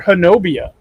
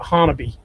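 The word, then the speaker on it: Honobia: This is a nighttime sighting by a trucker near Hanobia. Or actually, they pronounce it Hanabi. That's right. Yeah. Only in Oklahoma can Miami be Miami and Hanobia be Hanabi.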